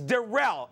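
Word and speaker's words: Da'Rel: derell Scott that's right it's derell it's spelled da apostrophe reel yeah apparently he's about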